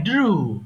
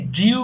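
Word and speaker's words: drew: আমি একে ছিলাম আই ড্রু আমি একে ছিলাম বলতো আই আই ড্রু আই ড্রু আমরা অনেক সময় এটাকে ড্রিউ বলি কিন্তু কিন্তু উচ্চারণটা হবে ড্রু তাহলে আমি একেছিলাম এবার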